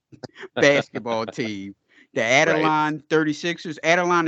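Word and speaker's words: Adelaide: team the Adeline 36ers Adeline is that how you pronounce the name correct yeah yeah and the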